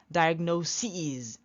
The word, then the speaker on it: diagnoses: let's see analysis analysis be careful not analysis be careful because these are foreign prels okay not analysis not basis here not crisis but EAS they are foreign plurals foreign nouns analysis analysis basis basis